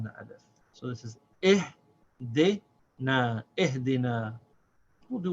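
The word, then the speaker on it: اهدنا: So this is pronounced na, ihdina.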